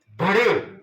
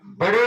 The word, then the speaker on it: बढ़े: बढ़े बड़े नहीं है, कुछ बच्चे उसको गलत प्रोनाउंस करते हैं, बढ़े चलो।